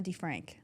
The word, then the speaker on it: DeFrank: this was fire shout out now help me pronounce the full name D oh my name is D Frank and Frank okay cool because for some reason